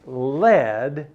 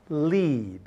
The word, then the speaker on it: lead: to do with dialing so it must be Leed not lead same word spelled the same but it sounds different and has of course a different meaning so this is lead